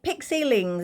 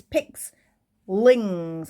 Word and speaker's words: Pixling: as a sort of I keep calling it pixil Lings it's not it's pix Lings I keep saying it wrong apologies for that I